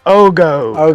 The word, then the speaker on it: Ogio: yep uh Peach State somebody told me they said I was pronouncing Ogio and they were like it's ogoo and I'm like what yeah they it goes back and forth um good company uh